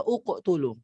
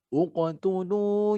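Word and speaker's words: اقْتُلُوا: Ya, jadi bacanya kalau waqaf mubin. Kalau diwasolkan sambung mubin, ini uqtulu. Ya, kalau waqaf mubin sambungnya uqtulu. Kalau diwasolkan mubini niqtulu. Gitu ya, jadi nun wiqayah.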